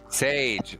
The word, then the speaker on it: Sage: sage." Sage. Rhymes with mage.